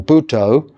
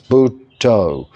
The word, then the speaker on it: Buddho: the Buddha, or an abbreviated form of Buddho, 2-syllable Buddho, or Buddha, but as 2 syllables, Buddho.